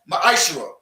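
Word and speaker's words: מעשר: 3 8 through 10 means 10th in hebrew and it's pronounced maisha 10 of every penny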